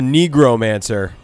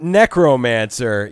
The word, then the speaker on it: necromancer: And he's like, yeah, my favorite class is the Negromancer. Whoa. And I'm like, whoa. I'm like, just. Whoa. I always pronounced it Necromancer. You know, like necrosis or necrophilia.